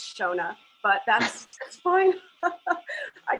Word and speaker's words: Shonagh: give it to her where she can probably pronounce her name correctly thank you lex so much and yeah it's shona but that's that's fine i agree that's all